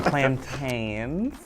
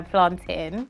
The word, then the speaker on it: plantains: saying it wrong from plantains plantains so as a West African we say how it's spelled as a Jamaican in the Caribbean we tend to say you know planting how beautiful the diaspora